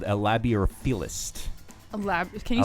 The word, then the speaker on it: labeorphilist: I think you would technically be called a labiorphilist. Can you spell that? Labiorphilist.